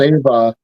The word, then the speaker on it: Ewa: That's why I said that's why it's pronounced Ava even though it's a W because in Swedish that's how it works.